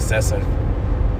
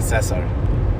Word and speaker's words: Cesar: I was hanging out with my dude Cesar. And I feel like I said it wrong. Cesar. Yeah, I said it right that time.